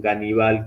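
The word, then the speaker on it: Ганнибал: tiene el nombre Aníbal tiene esta pronunciación ganal como con una G Al comienzo eh en 1723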